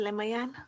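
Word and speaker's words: Lemaiyan: Leayan.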